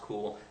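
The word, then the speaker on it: Cuil: engine called cool um spelled CU i l but pronounced cool actually a few ex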